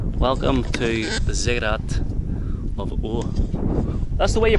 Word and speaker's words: Ur: Welcome to the Ziggurat of Ur. That's the way you pronounce it, eh? Ur? Ur.